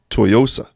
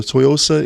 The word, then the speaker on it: Tsuyosa: Yeah, is the S silent? I think the S is silent. I first got hands-on with the TSUYOSA in Macy's when I was looking around.